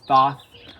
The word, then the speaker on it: Thoth: The most common pronunciation is Thoth. I use the pronunciation Thoth, and Aleister Crowley himself actually uses the pronunciation Tahuti throughout the book, which I find to be kind of funky, but also cool.